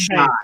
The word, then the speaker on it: Shi: pronounced Third shy.